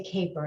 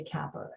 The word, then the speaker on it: caper: they may read it we want them to say Caper and we don't want them to say Kappa and the rules of